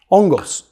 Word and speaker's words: hongos: Hongos. And actually, you don't even pronounce the H in Spanish, you just go Hongos.